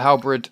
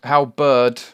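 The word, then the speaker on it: halberd: guys oh my god every time i edit these terra firma craft videos and i say halbrid i face palm so hard because it's hal bird how bird i keep saying it wrong and i keep hating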